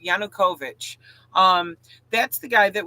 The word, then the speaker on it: Yanukovych: that that's uh Yanukovych I guess I was pronouncing that wrong of yanakovich Yanukovych um that's the guy